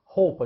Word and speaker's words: Hoppe: A palavra Hoppe em alemão pronuncia-se com esse som agudo, como se fosse roupa, né? Só que com acento agudo no A. Hoppe.